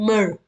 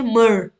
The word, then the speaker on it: myrrh: so the gifts were of gold frankincense and myrrh okay myrrh that's how you pronounce the word mer okay so uh frankincense